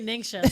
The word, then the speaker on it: NingXia: array of everything and i did want to say ninja but it's not ninja yeah actually ningxia so all of this